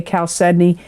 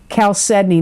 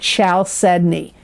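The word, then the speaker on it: chalcedony: that when I say cal sedney It's c h a l c e d o n y and it is pronounced Cal sedney not shal sedney it's Cal sedney that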